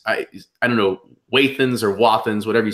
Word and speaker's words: Wathen's: Yeah, I've met a guy who's an artist, and he's like a third generation non-distiller, and he pronounces it Wathen. So I go with Wathen.